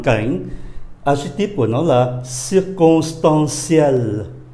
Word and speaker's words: circonstanciel: La circonstance là một hoàn cảnh, adjective của nó là circonstanciel, đọc là ciel, đọc là ciel.